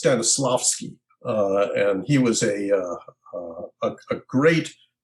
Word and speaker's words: Stanislavski: I guess my very first teacher, I think his name is pronounced Stanislavski, and he was a